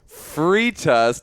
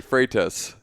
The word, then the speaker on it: Freitas: but I'm super excited to chat with Freitas. Wait, I said it wrong already. Freitas.